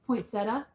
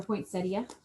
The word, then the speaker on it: poinsettia: And of course, poinsettia or poinsettia, however you want to pronounce it, bold red.